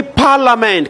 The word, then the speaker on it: parliament: We say parliament. Can you not say parliament? What is silent? The I is silent.